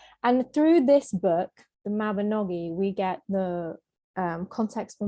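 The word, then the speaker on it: Mabinogion: of core sources we're looking at the mabinogian which is actually pronounced the mabanoggi i'm sorry welsh people and this is a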